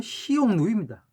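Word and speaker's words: 匈奴: 그리고 흉노의 중국식 원어 발음은 시용누입니다.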